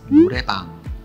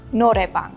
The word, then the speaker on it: Noraebang: In Korean, it's Noraebang. Noraebang. Noraebang.